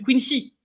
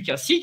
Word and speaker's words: Quincy: appelle le pacte du Quincy ou du Quincy pour ceux qui prononc plutôt la française le pacte du quini qui est je te